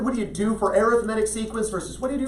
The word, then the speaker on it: arithmetic: geometric geometric sequence and the one that's hard to pronounce because we're used to saying it a different way um Cory G ometric sequence and arithmetic sequence an arithmetic sequence we're saying arithmetic but arithmetic sequence and what's the difference